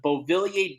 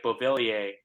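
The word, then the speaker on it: Beauvillier: to change here but some fella had the bovillier jersey and the way that bovillier is spelled he's French obviously if those were listening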